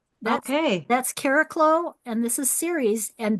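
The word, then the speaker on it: Chariklo: Caraclo is how I say it. Melanie Reinhart calls it Chiriclo, Chiriclu.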